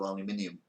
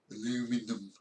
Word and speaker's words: aluminium: pronounce things really wrong, and like aluminum, they pronounce it instead of aluminium, aluminum.